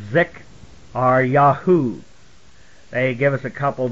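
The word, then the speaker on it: Zekaryahuw: It was Z-E-K-A-R-Y-A-H-U-W, and it's pronounced Pro-Zik-R-Ya, or Zik-R-Yahu.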